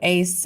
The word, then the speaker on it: AIICE: identity inclusive Computing education or is it pronounced Ace yeah so Ace uh and actually I